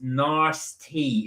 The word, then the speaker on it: nasty: tickle uh Amy said nasty is pronounced nice tea in my area all right nasty nasty